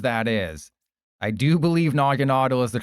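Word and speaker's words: Naganadel: Nogginaudle, and I think Nogginaudle is the correct pronunciation, as dumb as that is. I do believe Nogginaudle is the correct pronunciation.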